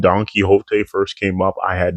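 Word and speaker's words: Donquixote: I'm telling you, when the name Donkey Hot first came up, I had no idea how to pronounce that.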